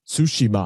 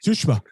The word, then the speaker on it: Tsushima: Like it's not Tsushima. Yeah, there's not as much accent. Tsushima. They run it all together.